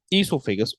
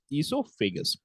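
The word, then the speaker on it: oesophagus: with o okay now esophagus o here is actually silent what is oh here is actually silent you pronounce it as how esophagus then you have stomach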